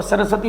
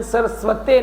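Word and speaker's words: सरस्वत्यै: की ज़रूरत है, तो सरस्वती माँ की पूजन, उनके अभिमंत्रित ओम एन सरस्वते नमः, ओम एन सरस्वते नमः, ना कि सरस्वती, ओम एन सरस्वते नमः, प्रोनाउंसिएशन ठीक करना है, ठीक है।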